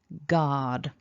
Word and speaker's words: guard: So we've got the g at the beginning, then we've got a long r vowel, and then a voiced d. So that's g, r, d. So repeat after me, keeping it as one syllable.